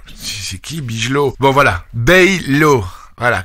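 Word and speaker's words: Bijlow: Bon voilà, Baylo. Voilà, quand c'est IJ, c'est hey, c'est comme Wijnaldum, non, c'est Wijnaldum.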